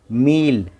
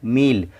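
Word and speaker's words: meal: एम ई ए एल, मील। और ई की आवाज़ नहीं, ई का नाम पढ़ रहे हैं। देखिए उच्चारण में ई सुनाई दे रहा है, मील।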